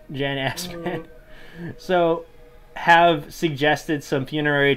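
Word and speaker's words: Assmann: jan i'm pretty sure it's pronounced asman but it's spelled ass man jan asman so have suggested some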